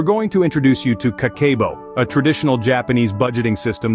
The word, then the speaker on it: Kakeibo: Kakeibo, pronounced Kakeibo, is a traditional Japanese method of managing and saving money.